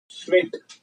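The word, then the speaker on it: Tswett: Okay, it is given by 1903 में श्वेट, that is T silent है यहाँ पे, तो श्वेट साइंटिस्ट ने ये दिया था क्रोमैटोग्राफी टेक्निक.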